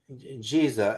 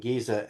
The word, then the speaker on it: Giza: So, when you understand that the three pyramids that Jiza as Arabs pronounce it and Giza as local Egyptians, Giza is beautiful name.